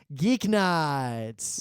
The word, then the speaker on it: GeekNights: z a r and at geek nights yeah rhymes with week nights we've also I think